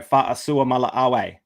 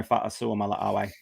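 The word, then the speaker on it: Fa'asuamaleaui: Yeah, that is Tino Fa'asua Mala'awe. Don't ask me how to spell it. Definitely don't ask me how to spell it, but Tino Fa'asua Mala'awe.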